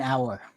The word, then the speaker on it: hour: It's like an hour. Yeah, except you don't pronounce the H in hour.